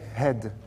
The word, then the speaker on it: head: Dans tête, le H-E-A, il va se prononcer he, head.